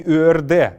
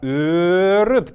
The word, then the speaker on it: ырыт: Не «ырд», а «ырыт» правильно.